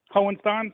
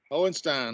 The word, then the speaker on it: Hohenstein: Hohenstein? Sounds like you guys are saying it right. Close enough. I've heard it in many different ways. Okay. Hohenstein.